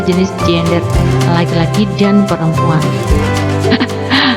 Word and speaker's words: gender: Anak-anak, toleransi terhadap keragaman gender, manusia diciptakan Tuhan dengan 2 jenis gender, laki-laki dan perempuan. Bacanya jangan gender ya, gender. Tulisannya gender, bacanya jangan gender, gender.